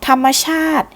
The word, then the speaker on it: ธรรมชาติ: รักษา ให้ คง เดิม ธรรมชาติ อ่าน ว่า สี ธรรมชาติ หมาย ถึง สิ่ง ที่ เกิด ขึ้น หรือ มี